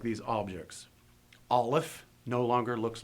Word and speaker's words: aleph: and also notice that when you pronounce these names, the accent's always going to be on the first syllable. Aleph, Gimel.